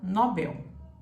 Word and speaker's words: Nobel: Nobel e em português você fala Nobel prêmio Nobel assim é o correto vamos imaginar que a